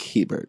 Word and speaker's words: Hebert: That is how I pronounce my name. Okay, Hebert. Yep, Hebert.